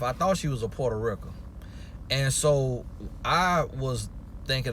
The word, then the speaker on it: Puerto Rico: let me the spring when I say Puerto Rico I'm saying Puerto Rican but I learned how to talk a lot of my words from my grandma who's from Alabama Selma Alabama and she's pronouncing Porto Rico and so and I just think that's coming from her never seeing the word or knowing how to spell it so she just was